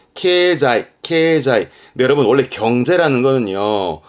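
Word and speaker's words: 経済: 발음은 케자이.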